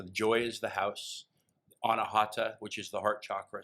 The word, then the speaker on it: Anahata: I'm going to probably mispronounce this. Anahakra? Anahata.